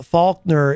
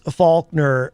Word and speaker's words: Faulkner: Eric Street says uh Faulkner if you said it the wrong way you'd have to hit the dump button yes that's why Eric I do make sure to pronounce the L um even sometimes I'll